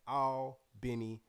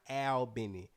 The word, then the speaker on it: Albany: where our heart at all benny georgia a-l-b-a-n-y pronounced all not al benny for the folks who ain't from down bottom ain't from the south all benny georgia shout